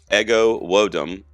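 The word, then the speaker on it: Ego Nwodim: It's pronounced Ego Wodum.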